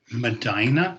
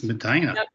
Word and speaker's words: Medina: was born and raised in Medina is that how you say it it's Madina Madina near Cleveland uh where